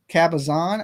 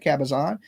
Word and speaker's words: Cabazon: I went to California, Kabazan, I believe I said it right that time, right? Cabazon.